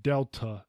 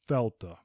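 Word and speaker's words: Δέλτα: a y Yama Fela this is almost always pronounced Delta in English but correctly it is thta Epsilon the last part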